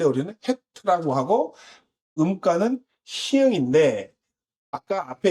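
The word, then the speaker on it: חית: 이게 붙여 있을 때 우리는 헤트라고 하고 음가는 희응인데 아까 앞에 있었던 기도하는 사람의 모양도 희응인데 이것도 희응이잖아요. 그런데 발음상은이 가래 그 뭐 그고 후두 후이 강하게에 영향을 미치는음 의미입니다.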